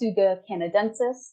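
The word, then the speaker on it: Tsuga canadensis: Eastern Hemlock this is an interesting spelling it's pronounced Suga canadensis so the tea is silent and it is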